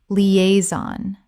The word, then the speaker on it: liaison: Liaison. 3 syllables with the stress on the second.